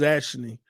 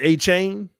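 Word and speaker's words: Achane: missing everybody name up a chain is it a chain or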